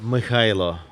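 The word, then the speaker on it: Mykhailo: Well, officially, by passport, it's Mikhailo. How do you say it? Mikhailo. Mikhaila. Yeah. Then the short name in Ukraine, it was. It was.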